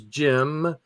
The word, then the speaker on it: Cem: That's Jim. That's pronounced Jim.